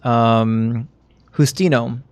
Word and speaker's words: Justino: It was Justino. Justino? Yeah, they added the O, and they changed the pronunciation of the J, because the O is the appropriate masculine ending of the name.